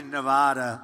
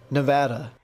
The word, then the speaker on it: Nevada: his own pronunciation NADA nobody says it the other way it has to be Nevada actually Donald wrong this is right Nevada at one rally hey